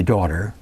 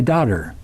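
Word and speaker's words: dóttir: In Iceland, they don't say daughter, they say daughter, because it's spelled D-O-T-T-I-R. Daughter, daughter.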